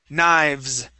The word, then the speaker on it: knives: there we go so knives so I I slide my my teeth I slide it back quickly knives so that V is there but it's really it's really quick knives okay kniv one